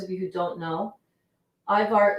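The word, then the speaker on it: ajvar: a little drop of ivar on the top an eyebar in case those of you who don't know ivar is a um it's spelled a j v a r i totally just did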